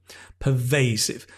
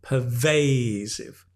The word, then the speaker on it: pervasive: is noticeable everywhere okay pervasive notice the stress again is on the middle syllable pervasive the pervasive lovely we